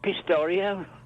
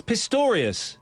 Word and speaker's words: Pistorius: Pistario. Yeah, you Pistario. It's Pistorius.